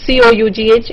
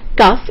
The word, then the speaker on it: cough: And actually it's not cough, it is cough. I have a cough and cold. Okay, so that's one pronunciation that you must get into the English mode, which is cough.